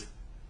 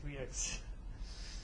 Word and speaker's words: Rieux: Yes, his name is really hard to pronounce. Rieux. Yes, Rieux.